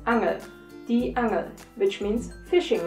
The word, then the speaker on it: Angel: word number two angel if you pronounce it german it's angel the angel which means